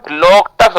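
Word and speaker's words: Loktak: लाम कहां पर से मणिपुर के अंदर है लोकटक लोकटक झील के एल ओ एल ओ के टी ए के लोकटक को इंग्लिश में लोकटक कहते हैं ना लॉक टक एल ओ के टी ए के इसको लोकटक कहते हैं रसगुला ठीक है लिखो बेटा तुम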